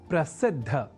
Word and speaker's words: प्रसिद्ध: या न लिखकर हम प्रसिद्ध अर्थात द और बाद में ध इस अक्षर विन्यास से युक्त शब्द प्रसिद्ध का ही लेखन और तदनुसार शुद्ध उच्चारण करेंगे।